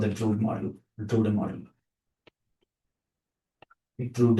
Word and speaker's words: Drude: Drude is the correct pronunciation. It's a German name.